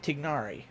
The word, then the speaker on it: Tignari: It's Tignari.